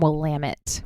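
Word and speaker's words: Willamette: Noir called Nicholas J okay and is from wamit which is how you pronounce that for anybody listening whoit I was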